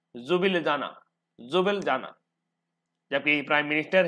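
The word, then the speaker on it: Ljubljana: L silent है और बाकी सभी वर्गों का उच्चारण होगा, वर्णों का उच्चारण होगा जुब लिजाना, ठीक है।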